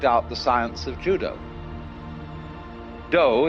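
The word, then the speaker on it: 道: Do is the way the Japanese pronounce Tao.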